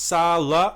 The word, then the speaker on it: Salo: Swing on D says Robert Salo is pronounced Salah.